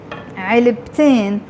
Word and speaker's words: علبتين: put, بحب عادة حط علبتين. علبة is one box, علبتين, you pronounce the ت مربوطة when you add the in.